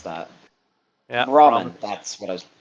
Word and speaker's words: Brahmin: Because I know two-headed cow is a I think is how you Brahmin, pronounce that. Yeah. Brahmin.